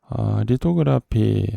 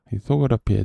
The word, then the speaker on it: lithography: 리토라 그러기도 하는 리소그라피에 대해서 이야기해 보겠습니다. 리토그라피 어떤 사람은 리토라고 해서 쌍시 발음처럼 비슷하게 하고 어떤 사람은 디귿으로 표기하기도 하는데 원래 리통그라피 사진 찾아보면 석판화라고 나옵니다.